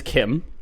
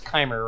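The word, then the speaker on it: CHIM: am all caps and one of the devs came out in in a forum post and said it's pronounced Kim alright well yeah like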